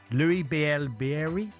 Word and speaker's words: Louis Bielle-Biarrey: Louis Bielle-Biarrey?